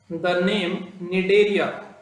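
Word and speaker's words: Cnidaria: यहां पर, the name निडेरिया, the name निडेरिया is derive, कहां से ड्राइव हुआ है, derive from the nidoblast or nidocytes, सी इसमें साइलेंट है तो पढ़ना निडोसाइट्स, ठीक है ना।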